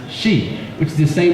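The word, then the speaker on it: し: this is because four in Japanese can be pronounced she which is the same pronunciation as there for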